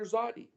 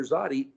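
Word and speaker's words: Tsadi: It's pronounced as I read it as a capital T lower Z. It's not S or TS, or it's tz, like a zitzi.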